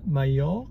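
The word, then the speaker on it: Mallorca: it with a J don't we but it's pronounced Maya yeah silent M silent L and Silent J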